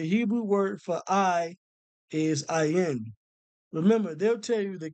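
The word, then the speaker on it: עין: So, when you look up the eye in the Hebrew, it takes you, the Hebrew word for eye is ayin. Remember, they'll tell you the character is pronounced ayin, but it's his own word.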